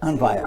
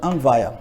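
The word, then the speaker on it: अन्वय: Anvaya. Sem pronunciar o Y. Anvaya.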